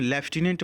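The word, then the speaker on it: lieutenant: लिखा हुआ है लेफ्टिनेंट ऐसे तो लूट लिखा हुआ है लेकिन लेफ्टिनेंट पढ़ा जाएगा और लेफ्टिनेंट की यही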